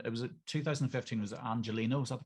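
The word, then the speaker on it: Angeleno: And it was 2015, was it Angelino? Is that the correct pronunciation? That's it, Angelino.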